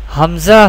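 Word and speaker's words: همزة: Hamza Ha pronounced from the bottom part of the throat.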